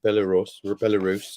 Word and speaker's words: Belarus: Yeah, Belarus.